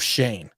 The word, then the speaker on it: Schoen: think shane is pronounced i don't think shone is pronounced shane it actually is it actually is funny